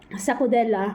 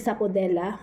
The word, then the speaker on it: sapodilla: Ayun guys I'm wrong pala hindi pala siya sa pudel sa pudel ang correct correct ang correct ang correct ano niya pronounce is sapodilla SAP sapodilla as in lu sapodilla lu so